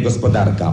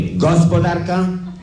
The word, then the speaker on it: gospodarka: On musi prędzej czy później postawić akcent fałszywie na pierwszej sylabie wyrazu, czyli pójdzie pod prąd języka ojczystego. On nigdy nie powie gospodarka, on powie gospodarka, w październiku, bohaterów, nominacja,